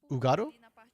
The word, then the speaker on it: Ugado: A bit sad Hugado didn't try cheese for bot. Oh well. The H is silent, so it's Ugado? Oh, Ugado, okay.